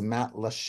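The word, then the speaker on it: Matlacha: Le Isles Matt lcha for those of you that have trouble with that pronounciation is Matt leche and as you can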